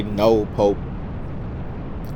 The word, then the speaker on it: Northport: Of course, sometimes I would say no Pope like the locals say and then sometimes I'll say Northport like that's actually what it's called. But uh no port is